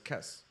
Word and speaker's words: Kes: just do it as Kess. K-E-S, like Kiss, you know, but Kess, you know?